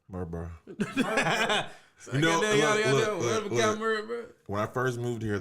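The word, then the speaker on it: Murfreesboro: know it's iggy okay how you saying murphy murphy's borough murph bro when i first moved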